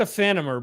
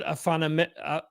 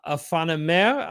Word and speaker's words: Aephanemer: pronouncing this correctly um i said a fan of her but she said afana afanime i believe uh i may be